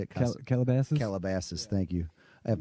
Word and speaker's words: Calabasas: from Cass casa how do you say it Calabasas Calabasas thank you I have no idea when